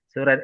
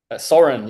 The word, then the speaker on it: Soren: Suren. Is it correct if how I pronounce it? Suren? Soren, yeah. Soren. Soren, Okay. yeah.